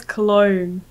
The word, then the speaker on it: Cologne: when I read it I read it as cologne yeah that's is that how you say that's